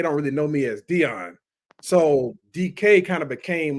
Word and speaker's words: De'On: So is it Don? Like you know what I'm saying? Are we supposed to pause? Like what's the what's the man? Yeah. It's just Dion, man.